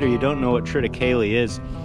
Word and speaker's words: Triticale: This year though, I'm gonna plant Triticale. That's how I pronounce it anyway. I've heard people call it Triticale, Triticale. However you pronounce it, that's what it's gonna be this year.